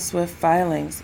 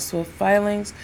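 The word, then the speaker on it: Swyft Filings: And when you're ready, I recommend Swift Filings.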